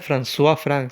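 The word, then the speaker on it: François-Franck: nervión de francois frank como lo dije se pronuncia françois frank se escribe francois frank entonces que tres cosas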